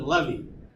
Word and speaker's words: levee: me leave no yeah well I I pronounce it levy yeah those occur well